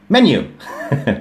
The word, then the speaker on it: menu: ประเทศ ไทย นะ ครับ เรา ใช้ คำ ว่า เมิ ไม่ ใช่ แมนยู นะ แมนยู อัน นั้น อีก แบบ นะ ฮะ แมนยู อัน นั้น สระ แอ อัน นี้ อ่า คล้าย สระ เอะ ฮะ Men menu menu